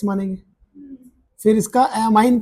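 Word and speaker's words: ammine: लाइग्ड को क्या पढ़ते हैं? अमाइन। यहां पे अमोनिया नहीं है।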